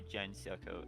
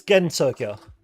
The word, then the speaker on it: Gensokyo: It's Gensokyo. Yeah, Gensokyo. It's a hard G. Okay. Yeah, it's Gensokyo, and then Gensokyo. if you whenever you see like OU, that's just a long O sound.